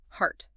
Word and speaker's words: heart: Heart.